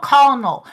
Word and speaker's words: colonel: sense i don't know the only reason why i knew it's pronounced kernel is because of metal